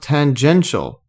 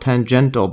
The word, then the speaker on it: tangential: Uh but apparently uh it's pronounced tangential. So tangential, it's not tangental, but I've been almost calling it tangential this time.